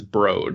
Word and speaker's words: Broad: was abroad yeah I thought it was the broad museum because that's how it's spelled but it's it's named after like people's